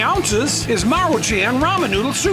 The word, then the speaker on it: Maruchan: But the other day, I saw A VIDEO WHERE THIS GUY WAS PRONOUNCING THIS AS MANCHURIAN. I DON'T KNOW HOW in the world you can get Manchurian out of Maruchan.